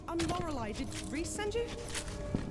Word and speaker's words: Lorelei: Oh, right, I'm Lorelei. Did Reese send you? Lorelei, that's how you say her name again.